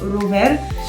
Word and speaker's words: rower: Comme on a par exemple le R en polonais qui est un R plutôt roulé. On a le mot par exemple rower.